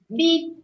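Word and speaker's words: BEB: It's pronounced like K-W-I-H. Not too many, okay. Eternal is Foif. F-O-I-F. Eternity is beep.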